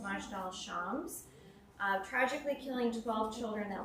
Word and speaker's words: Majdal Shams: an Israeli soccer field in, I believe it's pronounced Majdal Shams. tragically killing 12 children that were playing a game of soccer. The town of Majdal Shams consists almost entirely of Druze, a minority in Israel that's actually flourishing there.